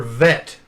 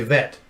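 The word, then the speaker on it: ב: letter this is a this is the letter vet say vet vet okay some some people when they teach hebrew they they don't call it the vet they call it a soft bet okay so either one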